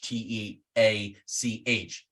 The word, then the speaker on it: Teach: If you're a pirate scholar, there's Teach, T-E-A-C-H. There's T-H-A-C-H-E because of Bayless Brooks. That's how I do it. Teach, but looks like Thatch.